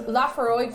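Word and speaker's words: Laphroaig: Lafroig, aye. Lafroig. Okay, I put an extra syllable in the middle for no good reason.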